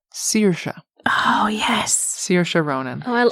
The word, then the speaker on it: Saoirse: how to pronounce before it's pronounced Saoirse oh yes Saoirse Ronan